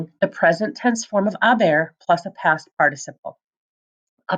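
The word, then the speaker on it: haber: you're going to conjugate a bear of course it has to be irregular and don't forget we don't pronounce the H so it's pronounced a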